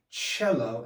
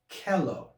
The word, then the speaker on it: cello: they see a cello they'll understand why it's pronounced cello and not kello all right because they